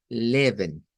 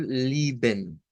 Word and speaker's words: Leben: Entonces, este nos dice que cuando las palabras son bisílabas, que tienen letras es en las dos sílabas, algunos alemanes dicen que pronuncian la primera como i.